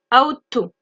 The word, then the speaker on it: ought to: Donc ought to, attention, on ne prononce pas le G et le H. On prononce juste le T, ought to.